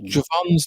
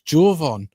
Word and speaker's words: Jovon: keep saying uh writing javon's name wrong to it's it's not Javon it's jovon oh I'm oh sorry